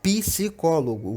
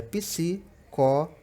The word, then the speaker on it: psicólogo: Essa, mais ainda, ocorre erros porque a gente tem a mania de falar psicólogo, o P separado. Mas na separação silábica não existe sílaba sem vogal. Então, na verdade, é psicólogo, tá certo?